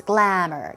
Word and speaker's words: glamour: It's not glamour, it's glamour, glamour. 2 syllables, glamour.